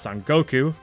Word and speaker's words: Son Goku: Baiten Sun is also known in Japanese as Sun Wukong, pronounced Son Goku.